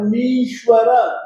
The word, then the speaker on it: मीश्वर: मीश्वर मीश्वर मीश्वर मीश्वर म बड़ी है, म में जो ई की मात्रा है वो बड़ी ई की मात्रा है, तो मीश्वर मीश्वर मनंत मनंत मनंत मनंत